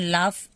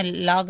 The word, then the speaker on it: laugh: लाफ, लाफ का मतलब LAUGH, यहाँ पे हम GH को F पढ़ते हैं, लाफ, ये ना लॉग नहीं पढ़ना है, लॉग नहीं पढ़ना, लफ पढ़ते हैं, लफ मतलब हंसना।